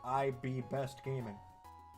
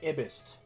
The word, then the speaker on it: IB Best Gaming: be IB Best Gaming, and that's how you're supposed to say it, is IB Best. So no, if you were saying it wrong, like people are doing for his thing, you'd be like Ibist, something like that.